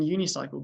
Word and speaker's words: unicycle: time was a UNIS we use a in unicycle because whilst it starts with the letter U which is a vow actually makes a y sound which is a consonant sound so sometimes we have